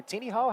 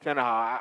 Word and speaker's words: Tenaha: I hear Tenaha, I hear Teenihaw. How do you pronounce it, Dre? I pronounce it Tenaha.